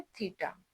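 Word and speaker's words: theta: इसको प्रोनाउंस क्या करना है? थीटा।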